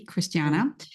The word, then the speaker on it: Cristiana: have heard before because my name ends with an e but I'm pronouncing it a Christiana um so I'm actually